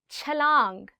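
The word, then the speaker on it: چھلانگ: Chalang. Again in this word, it's ch.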